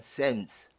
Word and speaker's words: Psalms: In the book of, 자, 이거 발음 어떡하죠? P하고 L 묵음이죠. 그러니까 이건 Psalms.